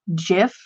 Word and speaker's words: GIF: one point where like the creator of the term said that it was supposed to be pronounced jiff but that like it